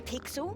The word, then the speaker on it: Pixel: not weird guy i'm pixel it's easy to remember because it rhymes with pickle so it does i'm foster